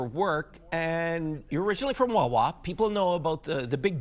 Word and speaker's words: Wawa: You say Wawa, you say Wawa. You say there's a stress on the second wa that you're saying Wawa.